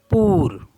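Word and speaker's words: pour: वू वू मीस यू पी ओ यू आर पूर पूर मीस होता है फॉर एंड सी ओ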